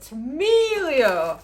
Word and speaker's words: tomillo: jazzy sound to it, but tomillo, that sounds good. I say it like that because that's how my neighbours used to pronounce it to me.